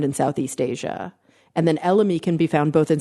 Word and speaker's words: elemi: As in elm? No, as in elemi.